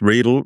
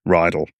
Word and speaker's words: Riedel: Riedel rhymes with needle. Riedel rhymes. If you think of it phonetically, it's like Riesling. Yeah. You don't say Riesling. Yeah. Riedel, Riesling, Riedel, same thing.